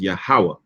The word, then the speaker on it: Yahweh: So the original pronunciation of the Most High's name is Yahweh.